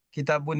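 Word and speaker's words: كتاب: Begitu pula dengan kitabun. Kitabun. Kita nggak boleh menyebutkan kitabu. Kalau nggak ada alif lamnya, kita bacanya kitabun. Seperti itu.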